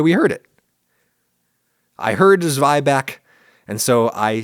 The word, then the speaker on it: zwieback: I heard "zwy-back", and so, I say "zwy-back", and I said "zwy-back" in the video, and some dude just sent me a "well actually" email informing me, "Oh, it's pronounced zwieback in Germany."